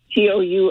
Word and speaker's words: Ratatouille: If you can remember how to spell it. I studied French. Ratatouille or something like that. Touille.